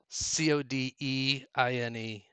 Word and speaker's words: Codine: do you spell that c o d i n e okay but it sounds like coding but it's Codine it's one of the